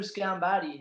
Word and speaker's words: Sgambati: i'm joined with andrew schambati how are you andrew you've actually pronounced my name right but that's probably because